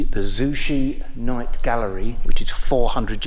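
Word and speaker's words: Zouche: very beautiful that's the Zushi G I think I pronounced that right z u c h e the Zushi Night Gallery which is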